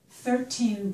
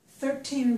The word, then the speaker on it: thirteen: followed by a noun, if I have 13 books, I would put the stress on the first syllable. 13 books.